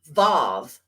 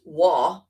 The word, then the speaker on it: Vav: The letter is called the Vav, or some pronounce it as Wa.